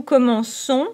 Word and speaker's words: commençons: Careful here. Nous commençons où il y a de C cédilles. C cédilles. To sound S.